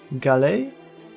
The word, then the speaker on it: Galashiels: Pisze się to Galashiels. Ale jako, że to Szkocja, to wymawia się to zabawnie.